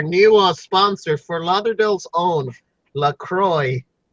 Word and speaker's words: LaCroix: sponsor for Lauderdale's own Lacroix its flavored club soda basically it has an X at the end but you don't pronounce that and